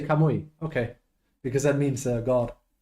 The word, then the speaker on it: Kamui: I was gonna say, but that is how you say Kamui.